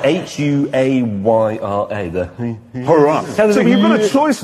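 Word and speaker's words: Huayra: Hurrah! So it's spelled H-U-A-Y-R-A, the... Hurrah!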